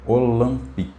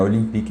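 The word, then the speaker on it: Olympique: Mas ela diz que é Olque, tá? Não é Olimpique não, mas o Deserb é um cara muito sanguíneo, né?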